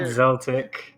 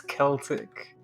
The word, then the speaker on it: Celtic: It's not Zeltic. It's Celtic.